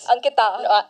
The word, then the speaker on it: Ankita: Ankita. Yeah, pronounced it right this time.